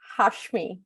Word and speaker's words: Hasmi: Give it to me 100% so that I have it right, because there's nothing worse than pronouncing someone's name for years, right? Yeah. It's Hashmi. So it's Hasmi.